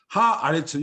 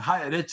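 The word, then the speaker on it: הָאָרֶץ: 하 아레츠 여기 아가 되는 거예요. 아가. 아시겠습니까? 아주 중요합니다. 그래서 뭐 어떤 사람들은 히브리 좀 안다고 에레츠 하면서 하 에레츠 하는데 그건 틀린 거예요.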